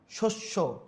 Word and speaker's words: শস্য: মধ্যে বা অন্তে অন্তবর্ণে জফলে যুক্ত হলে সেটির উচ্চারণ ওকানান্ত হয় যেমন ধন্য কি বলছি আমরা ধন্য ওকার হচ্ছে দেখ শস্য শস্য ওকার হচ্ছে এখানে শব্দের মাঝে বা অন্তে